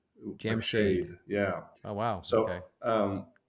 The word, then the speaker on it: Jamshid: reason the reason everyone you know calls me Jam shy with a long eye is not that that's how it's actually pronounced right but right that's how my kindergarten jamed correct it's actually Jam shade Jam shade yeah oh wow so um but that's how